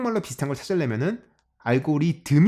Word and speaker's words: 알고리듬: 하는거 빅스 대 다 할 때 그 그 발음 이거든요 그래서 그게 굳이 항 말로 비슷한 것을 내면은 알고리듬 이 맞겠다 고 생각했어요 그래서 제가 여기 처음